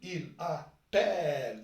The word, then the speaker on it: appelle: هنا النطق كيف نطقوه؟ هنا تقول vous appelez. donc E vous appelez. donc un seul L. كي تقول il appelle.